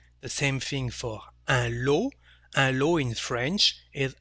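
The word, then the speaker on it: lot: same thing for a low and low in french is a pack of something a set of something and also a prize so lo we don't pronounce the final t so the sound o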